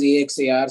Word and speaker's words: Axar: It's spelled as AXAR so that it becomes a little different from AKSHAR. All right. But essentially, the name is Axar.